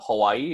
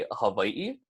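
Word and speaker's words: Hawaiʻi: take Hawaii for example it's gonna create a break in the last two E's at the end of that word so instead of Hawaii it's gonna be a hub ie and then these are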